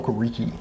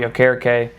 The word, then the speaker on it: Okereke: We used to call him Okereke. Yeah. Before he came out and he's like, yo, it's pronounced Okereke.